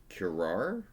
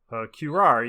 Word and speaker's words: curare: cat, which is with its claws dipped in curare.